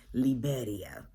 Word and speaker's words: Liberia: made sure to let us know that it's pronounced liberia um and they also have san jose which